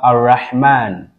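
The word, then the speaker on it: الرحمن: So we can also have Ar-Rahman. Ar-Rahman. Ar-Rahman. Now let me do this like this. Ar-Rahmanu. Ar-Rahmanu. The lam is always pronounced silently and it always has a sukoon.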